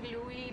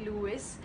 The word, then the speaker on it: Louis: I was more pissed because he didn't know how to pronounce Louis Tomlinson's name. He called Louis Lewis, so I was really irked by that.